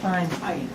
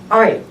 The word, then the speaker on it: ayin: Ayin. Ayin. So stop me if I might have done this. I don't remember if I did. Ayin. Ayin sounds like Aleph, right?